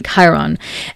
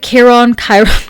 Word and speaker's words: Chiron: The Sun, Chiron, gosh, sorry, I sometimes never know how to fully pronounce that, so I interject between like Chiron and Chiron. I guess Chiron is like the correct way to say it in English, at least. So yes, in German we would say Chiron.